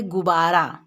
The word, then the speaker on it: गुब्बारा: संयुक्त वी है और इसका उच्चारण जब हम करते हैं तो बी पर थोड़ा जोर होगा जैसे अगर केवल एक बहुत आता हम लोग बोलते गुब्बारा लेकिन इसमें संयुक्त संयुक्त वी है दो है वह है ना आधा बी और पूर्व तो इसका उच्चारण में बी पर जोर पड़ेगा कैसे पड़ेगा जोर वह